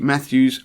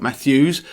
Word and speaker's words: Matthew: also listen to Pete Matthews meaningful money podcast and I've just done that I've just done that annoying thing that everyone does when they mispronounce someone's name because Pete's surname is Matthew not Matthews so yeah sorry Pete